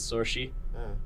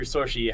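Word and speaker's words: Saoirse: Like, so one of my favorite Irish words is sorshi, which you hear sorshi. How do you think it's spelled?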